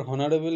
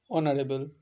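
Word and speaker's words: honourable: তাহলে আমাকে তার জন্য উচ্চারণটা ঠিকভাবে জানতে হবে, যে এই ক্ষেত্রে কিন্তু এইচটা সাইলেন্ট থাকে ও সেক্ষেত্রে উচ্চারণটা হয় অনারেবল, অনার্স, আওয়ার।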